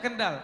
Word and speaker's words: Kendal: Ken downloah orange di Kendal ya kental ya bacanya Kendal Kendal ya Aku nggak